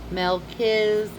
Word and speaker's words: Melchizedek: izedek Melch- Hold on. Melchizedek. Melchizedek. That's how you pronounce it.